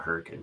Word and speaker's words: Hurricane: lot of weird names so utah has a town called hurricane but it's spelt just like hurricane they call it hurricane for some reason mormons i know right